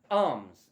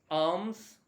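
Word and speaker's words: alms: s what is that arms you will not pronounce the l and it's a very common word a l m s arms what does it mean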